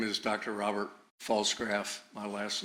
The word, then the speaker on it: Pfalzgraf: Robert Falsegraph. My last name is spelled P F A L Z G R A F.